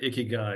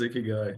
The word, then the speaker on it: ikigai: got these three circles and it's basically I pronounce it iy guy and my publisher went down this whole path